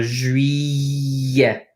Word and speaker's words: juillet: Double L's often in French are pronounced as a Y, like a Y. So juillet, kind of like the letter Y.